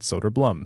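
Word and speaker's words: Söderblom: It's your name you pick and you tell me how to say it. And he said Soderblom. So from now on, it's Elmer Soderblom.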